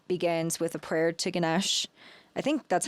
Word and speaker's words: Ganesh: So then Ganesh Puja, the ceremony begins with a prayer to Ganesh. I think that's how you pronounce it, Ganesh.